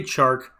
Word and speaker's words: Chark: enjoy talking about because his name rhymes with charkweek and you can sing baby shark with him and not anything else you want to do dj chark at the 5.10 now